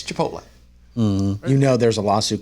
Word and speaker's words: Chipotle: in the full story the reporter pronounced it chip oh no sir it's Chipotle you know there's a